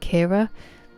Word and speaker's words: Ciara: Siara, I did not expect Kira. Irish. It's Irish dick. Thank you. That's up to my dad. Um yeah, it's pronounced like Kira Nightly, but it's the Irish spelling.